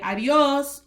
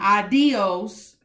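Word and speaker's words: adiós: an accent mark over that's why we say adios or the stresses of o not adios or ah dios that's different that means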